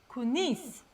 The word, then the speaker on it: kuningiz: pronounced kunis.